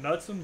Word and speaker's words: Knutson: I would presume the K is silent and call it Nutson, but I'm not sure. Kind of like Nelson, but Nutson. Yeah, that's how it's pronounced.